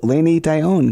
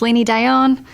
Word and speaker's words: Lainey Dionne: the final time tonight we say hello to laini daion good evening how are you still good awesome